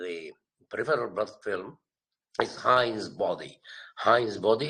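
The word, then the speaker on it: Heinz: are seen in the peripheral blood film is Hines body H's body it's spelled capital h e i n z bodies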